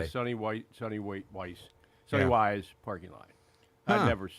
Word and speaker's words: Weiss: They said that they were in the Sonny Weiss Sonny parking lot. Wise. Sonny watching- Wise. Sonny Wise. Sonny Weiss parking lot. Yeah. I pronounce it Weiss. Yeah, it's Sonny Weiss or Sonny Wise. Anyway, it doesn't matter.